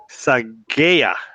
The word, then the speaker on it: Saghieh: or enrolled agent I should say sorry Abe psy gaya did I pronounce that right you got it right yeah